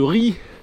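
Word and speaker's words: Ry: s'appelait le village ça ça sécrit r y et ben on dit ri voilà tout simplement comm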